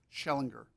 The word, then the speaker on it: Schellinger: Schellinger. All right, I'm sorry. What's the correct pronunciation? Schellinger. My apologies, sir.